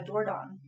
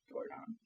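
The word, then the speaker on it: Dordogne: with it was a doordan which is and it's I'm not saying it correctly because it's a region in France and there's a g at the end okay um but it's something like that how do you spell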